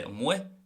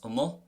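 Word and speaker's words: amuigh: I would say umwe, can also be pronounced umo, and it can also be pronounced umwig.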